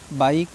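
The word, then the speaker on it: bike: बात याद रखनी है वर्ड के लास्ट में आया हुआ ई साइलेंट होता है उससे हमें कोई मतलब नहीं उसका प्रोनाउंस नहीं करना है बी आई के ई बाइक ठीक है इसी के साथ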